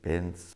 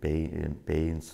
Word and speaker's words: pens: That means they call bread “dona”, milk- “pens” and not “peins” or “pyns”.